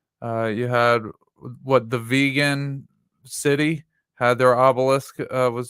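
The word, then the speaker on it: Vigan: he was assassinated uh you had what the vegan City had their Obelisk uh was destroyed by lightning on seven seven the vegan City yeah vegan City it's uh you've seen it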